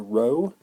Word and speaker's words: rho: variable we use is the greek letter rho as in row row row your boat although it's spelled r h that's an rho rho